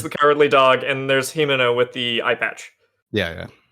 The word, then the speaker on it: Himeno: There's Kobeni, who is Courage the Cowardly Dog, and there's Himeno with the eye patch.